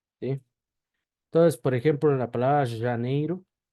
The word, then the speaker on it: Janeiro: después vamos con la J se pronuncia siempre sh y no así vamos a ponerle como una y vibrada con un ligero ceseo vamos aer ceseo entonces por ejemplo la palabra Janeiro Janeiro neiru janeir lo que